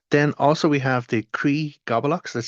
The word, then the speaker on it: Críth Gablach: a c h then also we have the cre gobblocks that's c r i father t h or kit goblock g a b l a c is the